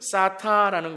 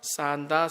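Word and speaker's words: 쌓다: 11장 1절은 사타라는 것입니다. 바벨탑을 사타. 여러분, 인류의 역사는 나타, 나타, 나타, 사타, 사타, 사타의 기록입니다. 발음을 잘 하셔야 됩니다. 산다, 산다가 아니라 사타, 사타, 사타입니다.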